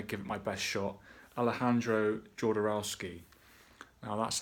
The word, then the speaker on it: Alejandro Jodorowsky: film that came out in 1970 as people pronounce this guy's name various ways I'm gonna give it my best shot Alejandro Jodorowsky now that's how I say it other people